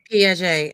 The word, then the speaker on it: Piaget: How you pronounce his name again? The other one? Piaget.